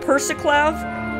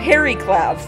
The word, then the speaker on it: Periclef: I've been calling it Persiclav when it's Periclav. So I apologize for the multiple episodes that I have been pronouncing this wrong, but now I know there is no C, it is an R.